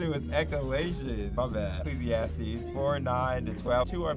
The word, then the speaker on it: Ecclesiastes: e eans is it is it is that pronounce it wrong it's ecclesiast oh Ecclesiastes oh my goodness I thought it was eal my bad Ecclesiastes 49 to 12 two are better than one